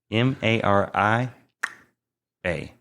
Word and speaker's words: Marija: the J come in m a r i a j a Maria she's from Lithuania so the J is silent okay I'll take you